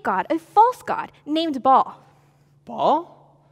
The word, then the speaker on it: Baal: I'm no longer going to pronounce it ball. I'm going to pronounce the false god's name, Baal. Today we're learning about a false god named Baal. Oh. Baal, not ball.